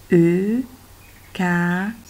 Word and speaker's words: eucalyptus: Eucalyptus. Attention, le S n'est pas muet.